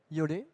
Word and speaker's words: Iole: Donc c'est l'objectif des 3 expositions que va vous présenter Iole, j'espère que je prononce bien, de Contemporanea Progretti. Iole.